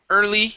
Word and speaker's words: early: not early early years try that early years okay ER instead of ear ER early years early years that's it nice job